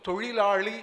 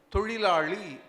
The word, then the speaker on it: தொழிலாளி: அந்த ஒரே ஒரு சொல்லில் மட்டும்தான் லகரம் லகரம் லகரம் மூன்றும் இணைந்திருக்கிறது அந்தச் சொல் தொழிலாளி என்பது இந்த ஒரு சொல்லைத் தவிர மூன்றும் இணைந்த சொல் தமிழில் கிடையாது எனவே கண்ணாடி முன் நின்று தொழிலாளி தொழிலாளி தொழிலாளி என்று மறுபடி மறுபடி நீங்கள் உச்சரித்து பழகினால் லகரம் லகரம் லகரம் மூன்றுமே உங்களுக்கு இயல்பாக உச்சரிக்க வந்துவிடும் கிவா ஜெகநாதன் சொல்வார் வாழைப்பழத்தை